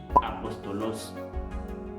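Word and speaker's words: ἀπόστολος: Nous dit moi apôtre la sortie dans la langue grecque. Qui est écrit comme ça. En même temps tout qui prononcé apostolos.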